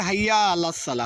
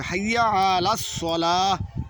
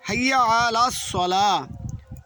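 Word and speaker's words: حي على الصلاة: রাসুলুল্লাহ তারপরে অনেকে বলে হাইয়া আলাস সালা হাইয়ালা হাইয়া লাস সালা এখানে হবে হাইয়া হাইয়া আইন উচ্চারণ করতে হবে হাইয়া আলাস সালা হ্যাঁ সালা বললে হবে কিন্তু শুদ্ধ হচ্ছে হাইয়া আলাস সালা তারপরে হাইয়া অনেকে বলে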